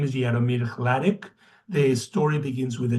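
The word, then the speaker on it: Hladík: His name is Jaromir Hladek. The story begins with a dream, and eventually when Hladek is in his, or some people pronounce it Hladik, when he is in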